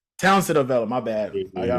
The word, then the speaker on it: Townsend-Avella: Townsend. Did I say it right? Yeah, Townsend-Avella. Townsend-Avella, my bad.